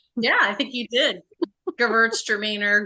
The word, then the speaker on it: Gewürztraminer: I think someone said to me about Traminette is it out Gewürzes Gewürztraminer. Did I pronounce that correctly? Yeah, I think you did. Gewürztraminer, girls are meaner, however you want to say it.